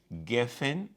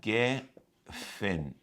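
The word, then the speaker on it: גפן: O Geffen em hebraico, Geffen, que é o G aqui esse não se pronuncia como R, não aparece como J. É Geffen.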